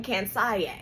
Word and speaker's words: Kansiyé: Get you some cans with the accent on the E like Beyonce.